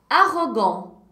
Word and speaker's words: arrogant: Et le T final ne se prononce pas. Gente, nem a sombra do T, hein? Não quero ver sombra desse T. Repita comigo. Répétez avec moi. Arrogant. Arrogant.